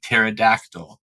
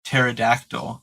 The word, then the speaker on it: pterodactyl: So you don't pronounce or very slightly, very mildly pronounce the P, and it totally changes the flow of the words.